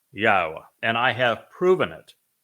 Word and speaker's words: Yahowah: but one name and it is pronounced yaha and I have proven